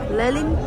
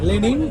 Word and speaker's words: লেনিন: একই ক্রুজ এই যে লেলিন ক্রুজ ঠিক বলেছে এবার উচ্চারণটা লেনিন ক্রুজ এই যে স্টিয়ারিং ঘোরাতে